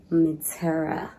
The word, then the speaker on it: Mitèra: highly recommend that place I think I can pronounce it now because we did ask the waiter it's midtera it's a great restaurant